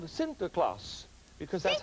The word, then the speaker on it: Sinterklaas: Nicholas was called a Sinterklaas because that's how Sinterklaas that's how the Dutch pronounce st. Nicholas and then he came